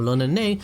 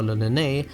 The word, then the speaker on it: l'Olonnais: The Japanese pronunciation for Lonene is Roronoa.